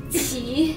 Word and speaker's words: Qi: Qi. Qi. Q sounds like C-H? More like a C.